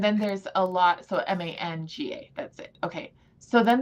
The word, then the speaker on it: manga: It's not tranime, but it's called MAGNA, Magna, I think is how you pronounce it. Magna. Okay. Magna, like the city. So, there you go. But no, it is a. I think it's manga. Manga, that's it.